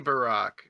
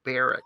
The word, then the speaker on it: Barak: old testament it's a it's a hebrew name that should be pronounced barack but they're like you know midwesterners from michigan going oh barrack that sounds nice yeah